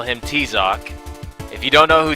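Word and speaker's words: Tizoc: We call him T-Zoc. If you don't know who T-Zoc is, just Google him. It's spelled T-I-Z-O-K. No, T-I-Z-O-C, sorry. T-Zoc.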